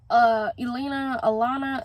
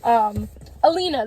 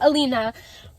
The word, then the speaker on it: Alina: And one of them was Alana, I'm sorry, I really don't know how to pronounce her name sometimes. Alina, there we go, Alina.